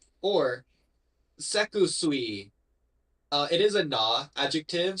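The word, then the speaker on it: セクシー: you pronounce it Japanesey. So yeah, Yeah. sekushi or sekusui.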